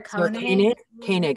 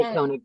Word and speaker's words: Koenig: It's Sarah Koenig. I think is how she pronounces it. Yeah. I say Koenig too.